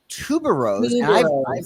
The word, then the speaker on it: Tuberose: It's not rose, but it's called Tuba Rose.